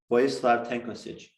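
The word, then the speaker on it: Vojislav Tankosić: And actually, a guy named Vojislav Tankosic, I'll spell it for you, V-O-J-I, Slav, S-L-A-V, V-O-J-I-S-L-A-V, tank, like American tank, O-S-I-C, Vojislav Tankosic.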